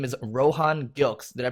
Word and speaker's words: Rohan Gilkes: Today we have the co-founder of Wet Shave Club, which delivers shaving goods monthly to your door, and his name is Rohan Gilkes. Did I pronounce that correctly?